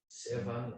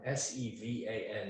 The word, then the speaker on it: Sevan: I don't know how to pronounce it, Sirvan, Sevan, S-E-V-A-N is how it's spelled.